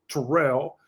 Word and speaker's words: Terrell: It's the new Terrell Owens or Terrell Owens. And it's pronounced Terrell.